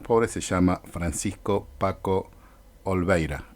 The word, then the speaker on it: Olveira: Una pequeña aclaración: el integrante de los Curas por la Opción por los Pobres se llama Francisco Paco Olveira, y no como lo pronuncié cuando hacía la consulta en el podcast.